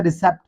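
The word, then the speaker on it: receipt: Next word है रिसेप्ट। रिसेप्ट word में भी दोस्तों आप देख रहे हैं कि हमारे पास यहां पर पी जो है वो साइलेंट है।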